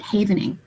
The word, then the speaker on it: havening: It's something called havening. Think safe haven, but that's how you pronounce it, havening.